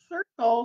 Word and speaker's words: circle: in the middle, and it has both the S sound and the hard C sound in the same word.